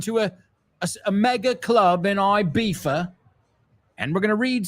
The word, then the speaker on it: Ibiza: And today we are going to, should I pronounce it in the Spanish way or the British way? Ibiza. Ibiza. I'm not saying which club, but we're going to a mega club in Ibiza, and we're going to